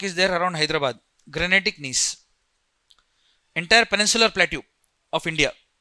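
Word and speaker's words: gneiss: Granetic knees. Entire peninsula plateue of India. What type of rock is there? Granetic n in this G silent when you pronounce it you have to pronounce with more stress on I.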